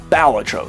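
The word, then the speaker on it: Balatro: And the accent goes on the first syllable. Ballatro, not bellatro.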